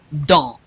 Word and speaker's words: dans: Dans. Dans. You don't pronounce the N or the S.